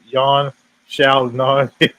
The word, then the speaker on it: Yan Xiaonan: According to Chris, he said this is well deserved, and it's pronounced John Wei Li versus Yan Xiaonan.